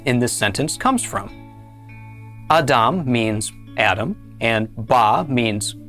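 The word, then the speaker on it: אָדָם: This word is pronounced Adam.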